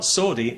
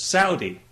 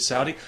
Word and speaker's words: Saudi: me you know you're you're pronouncing that wrong it's not sordi it's Saudi well okay fair enough I'm happy to pronounce it Saudi I'd be even happier